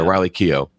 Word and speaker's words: Keough: way amazon prime video you will have uh riley keogh that's right who is granddaughter is that how do you say elvis yeah riley keough ah that's how you said it she looks